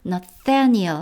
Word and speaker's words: Nathaniel: 사실 뭐 영어식 발음이 꼭 맞는 발음은 아니겠지만 영어식으로 발음한다면 요 부분 무성음으로 하고 Nathaniel 하고 두 번째 강세를 주었습니다.